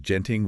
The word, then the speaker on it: Genting: And that is Genting with a hard G.